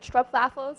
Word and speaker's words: stroopwafel: Yes, and additionally to that, we also have something called stroopwafels. I think you can pronounce it better than me.